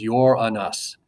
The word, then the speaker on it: Uranus: The way you actually pronounce this planet is Uranus.